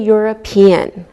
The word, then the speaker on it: European: like a why found same with a European we don't pronounce we pronounce the e and it sounds like a why okay let's look at